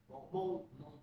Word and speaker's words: Hmong: Monk. Monk. Monk. Monk. Can read is monk also. Monk. No, you don't pronounce the H. Yeah. Just monk.